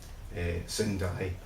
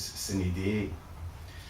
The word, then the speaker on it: sine die: Sin die, as I would say it. I was actually told last year by Ronnie Smith, who's my predecessor as the IS General Secretary, that the correct way to say it is sine die.